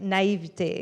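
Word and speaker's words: naïveté: as a French person, I should say it right, naivete.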